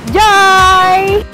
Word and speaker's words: GIOI: Dan di sini ada resto baru namanya Joy. Ada makanan apa aja sih di dalamnya? Yuk ikutin gue. Spellingnya sih J-I-O-I, tapi bacanya Joy, itu bahasa Vietnam.